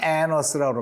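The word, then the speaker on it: Annas: n 어서 한테 갔어요 이거 발음을 에너 스르르 입니다 보통 2 n 자가 이렇게 두개 있으면 어떻게 하고 싶어요 요렇게 짤라 가지고 안 말 이렇게 하고 싶지 않나 스 그러고 싶은데 에 영어의 발음 법칙이 똑같은 자음이 2개가 겹치며 는요 우리는 이제 안 이렇게 애널 쓰고 낳아 애를 쓰고 이렇게 쓰고 싶지 않아 근데 이렇게 조개의 자음이 똑같이 이렇게 쓰이며 는 발음을 하나만 해요 하늘 생략 나는 아주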